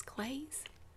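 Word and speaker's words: Claeys: old-fashioned hard candy but how do you say that CL 8ui apostrophe s clays is clays okay graves candy since 1919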